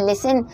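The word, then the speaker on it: listen: है बहुत सारे, जैसे लिसन हम बोलते हैं तो लिसन में टी साइलेंट होता है, या लाइट हम लिखते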